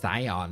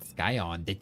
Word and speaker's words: Scion: It's Scion, not Skyon.